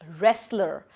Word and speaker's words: wrestler: He wants to be dash wrestler. Now the first letter is silent, but the second letter is consonant, so we are going to add A with it.